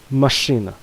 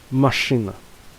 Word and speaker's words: машина: Машина, машина, машина. The stress falls on the first syllable a, but is not very prevalent on the second syllable a.